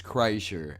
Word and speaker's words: Kreischer: right there was Kreischer the proper way to pronounce the man's last name is Kreischer and yes I am